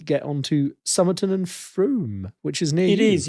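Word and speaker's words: Frome: on shall we get on to summon and fr which is near it is yes and I'm so delighted that you've called it FR and not FR which everybody who doesn't know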